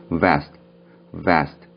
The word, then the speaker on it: vest: vest, V 발음이고요. 마지막에 있는 t는요, 그냥 t라고 발음을 하시기보다는 vest 라고 발음을 하시면 좋습니다.